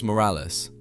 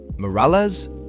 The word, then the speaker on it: Morales: Morales? You can't even say it right. You gotta roll the R.